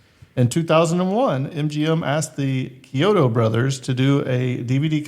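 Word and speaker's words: Chiodo: Kyoto.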